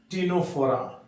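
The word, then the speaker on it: Ctenophora: हुआ करता था पहले टीनो फोरा जिसको आजकल एक छोटा फला माइनर फाला का रूप दिया गया टीनो फरा अब याद रखना है य पर फिर सी साइलेंट है कनोरा पढ़ेंगे नोरा टीनो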